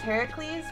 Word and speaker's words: Heracles: compete would be great to face you or Heracles and however we want to call it look I know it's pronounced Heracles but or something to that effect but because